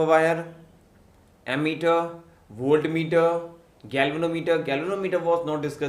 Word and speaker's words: voltmeter: इफ we talk about the वोल्टमीटर, कहीं कहीं पे वोल्टामीटर भी लिखा रहता है, someone used to pronounce the वोल्टामीटर, but exactly the pronunciation is वोल्टमीटर.